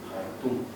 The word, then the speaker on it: Jartum: Por influjo del francés, cuando en español la J es más que suficiente. Jartum. Pues no, te pone KH y pronuncia K.